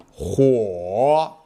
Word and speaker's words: 火: 火 Next, let's watch the pronunciation demonstration. 火 h u 我火火火山火山，这是一座火山，这是一座火山。